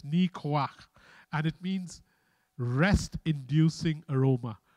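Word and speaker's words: ניחוח: I'll just pronounce it for you. It's Nikoach.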